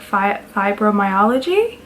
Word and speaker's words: fibromyalgia: it five bro five they call it five bro I think it's pronounced like fibromyalgia fibromyalgia so basically last year